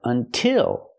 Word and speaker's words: until: If the stress is on the second syllable, we use the same sound, like until. The stress is on the second syllable, so we use the I sound like this is, until.